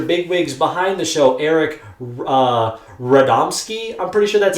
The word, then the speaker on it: Radomski: And of course, this episode was actually directed by one of the major bigwigs behind the show, Eric Radomski. I'm pretty sure that's how you pronounce it.